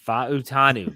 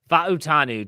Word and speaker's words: Fautanu: Banu is the pronunciation there's four syllables Pacific island you pronounce every yes fanu nonetheless the Washington offensive